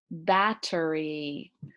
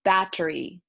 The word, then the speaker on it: battery: is the word battery battery the pronunciation in English many people say it quickly battery battery you might hear it battery battery the T sound kind of depends on the person okay so so not